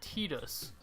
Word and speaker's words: Tidus: the first controversy of the game how to pronounce his name it's supposed to be tedious but I've grown up all my life either saying Titus or well my friend his name was Titus